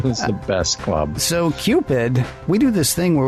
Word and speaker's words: Qpid: So, you're spelling Cupid with a Q. That one. Not me, man. Because I'm allergic to misspelling, but it is spelled for this episode. Uh, yes. Q P I D. Cupid.